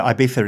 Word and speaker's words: Ibiza: over there no well the Zed and the CZ sort of pronounced with a lisp yeah so Ibiza is correct right so